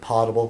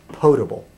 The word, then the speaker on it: potable: I've always mispronounced it. It looks like potable. No, it's potable.